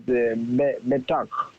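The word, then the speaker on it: בֶּטַח: So the rule would be to accent the syllable before the last syllable.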